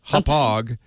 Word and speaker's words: Hauppauge: It's pronounced Hop Well, Hog. not poorly made. It's well made. This is a very well-known company, Hop Hog, but the spelling, it's a city in Long Island, Hauppauge.